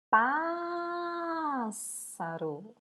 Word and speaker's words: pássaro: Pássaro. Qual que nós falamos mais tempo? O pás. Última, penúltima, antepenúltima. Se é a antepenúltima a sílaba tônica, ela é proparoxítona.